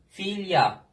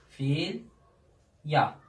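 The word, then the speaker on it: filha: Filya. Filya. Gördünüz mü? Ünsüzden önce geldi. Sonunda ne oluyor? Y harfine dönüşüyor.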